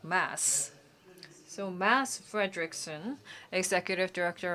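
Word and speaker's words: Mads: Frederickson and we engage in very interesting dialogue and I heard that his name M A Ds well D is silent so we should not say MAD but Mass.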